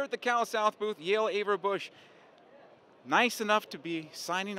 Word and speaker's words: Yael Averbuch: coaches convention here at the cal south booth yael averbuch nice enough to be signing autographs today for